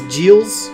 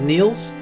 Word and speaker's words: Niels: Last time, by the way, we said the name wrong. We said it was Giles something or other. Yeah. But his name is Niels. Yeah, I mixed up with a J.